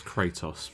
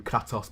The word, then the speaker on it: Kratos: It's Kratos, by the way, before anyone feels the need to correct you, I'm going to do it first. I'm going to keep calling him Kratos because it rhymes with twatos.